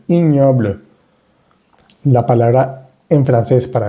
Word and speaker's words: ignoble: Y la G y N suena ñ. Esta palabra se dice ignoble, ignoble, ignoble.